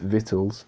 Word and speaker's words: victuals: 16 verse 21 behold victuals are pronounced vittles shall be so good